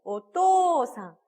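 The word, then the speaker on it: お父さん: 오또상, 우 발음하지 않고요. 토를 길게 발음해 주시면 됩니다.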